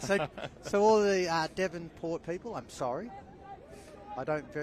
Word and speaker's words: Devonport: just want to say sorry to all the devonport people because I it's been made apparent to me that I was saying Davenport in that first half it's your Melbourne yeah